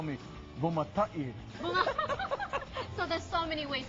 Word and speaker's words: Bumatai: It's Bumatai, you know. But it's interesting. It gets Hawaiianized. So exactly. But in Hawaii, they call me Bumatai. So there's so many ways to pronounce Bumatai.